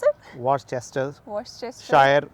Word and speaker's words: Worcestershire: is Worcester sauce. Oh, that is what? How do you pronounce it? Worcester Worcestershire.